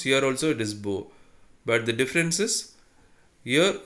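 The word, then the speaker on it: beaux: so don't read like that here it is bo another uh as we pronounce here also it is bo but the difference is here this is singular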